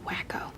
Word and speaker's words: Waco: It's pronounced wacko.